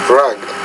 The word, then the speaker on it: rugged: lean rare better luggage rugged don't forget rugged it's actually two syllables not one so luggage rugged Right